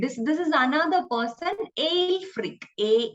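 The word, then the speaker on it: Ælfric: bead or alfred this this is another person ale freak a e l f r i c we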